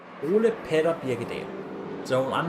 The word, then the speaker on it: Birgedal: Birgedal, there we go. I can pronounce his name. Ole Petter Birgedal.